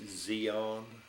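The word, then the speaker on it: Di An: In uh they call it Firebase Zeon. Spell it D I A N.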